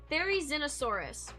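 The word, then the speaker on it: Therizinosaurus: This is how you this is how you pronounce it. Fairy Xenosaurus.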